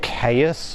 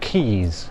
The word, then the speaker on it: Caius: So, yeah, this is um When you read it, it looks like Caius or something, but it's pronounced Keys.